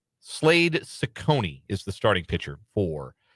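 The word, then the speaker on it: Cecconi: Slade Sichonyi, I think is how you say that name, is the starting pitcher for the Cleveland Guardians. I'm going to double check that. Sakonei, excuse me, and soft seas.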